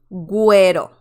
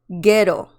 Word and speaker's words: güero: This is not pronounced pinguino, pinguino, or ghetto. Ghetto. It's pronounced pingüino, güero. Okay? So next time when you see la diéresis above the letter U, you know that you have to pronounce the letter U in the word.